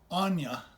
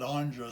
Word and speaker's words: Anya: everett the little girl anya i pronounce it andrea sometimes but her name is anya she's a real girl